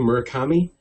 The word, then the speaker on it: Murakami: Is that how you pronounce the name, Murakami?